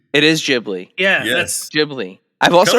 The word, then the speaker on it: Ghibli: Jibli. It is Gibli.